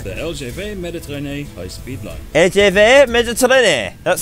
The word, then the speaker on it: LGV Méditerranée: LGV Méditerranée.